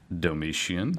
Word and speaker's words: Domitian: Domitian.